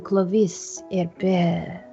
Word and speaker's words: Clovis Herbert: I am Clovis Herbert. Is the perfect way to pronounce the name in French.